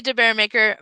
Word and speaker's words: DeBaeremaeker: of the it's debbie de bearmaker maker of things and my last name is spelled with a